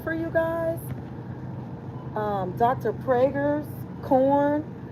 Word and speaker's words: Quorn: Prager's Corn, and they spell it Quorn, but it's just a play on words. Instead of saying Corn, now it's Quorn.